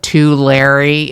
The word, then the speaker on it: Tulare: I'll call it two Larry if you want, like double Larrys. That's fine. 2 Larrys. It'll probably help you if you pronounce it like the locals do, because we often stop there.